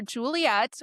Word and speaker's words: Giuliette: They decided to name their daughter Juliet, which is spelled Giuliette. I And need it to, like, come up on the screen. just know that it's Juliet, but it starts with a GH.